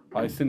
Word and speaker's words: Eisen: Eisen yazılır. Z okunur.